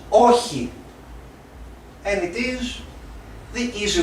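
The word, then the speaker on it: όχι: War or here now the president said oxy it's not oxy it's oji and it is the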